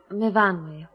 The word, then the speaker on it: Myfanwy: No, Myfanwy. We pronounce it Myfanwy.